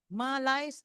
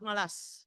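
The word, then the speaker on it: malaise: Title malice of the ummah malai and malays. There are two pronunciation for that. I checked yesterday. It's a from French. Malai, not malas.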